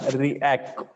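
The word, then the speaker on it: Riak: categories have it's own name that is store react react is the pronounciation we have to see it in detail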